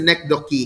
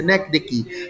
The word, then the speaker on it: synecdoche: the neck doki it's you look at the pronunciation in my with my mouth see neck vicky neck dicky it's not the neck donkey it's a neck dicky so god are the